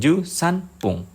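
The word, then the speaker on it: 十三分: Misalnya bunyinya pung bukan fung. Jadi 13 ju san pung.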